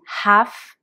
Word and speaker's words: half: et quand on est sur la demi-heure c'est half past half je précise on prononce bien le H comme quasiment c'est c'est